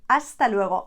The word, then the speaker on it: hasta luego: you can just say hasta luego again remember that h not there you don't pronounce it hasta luro see you